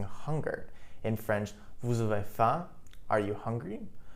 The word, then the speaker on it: faim: In French, vous avez faim, are you hungry? Note that faim, F-A-I-M, is pronounced as faim.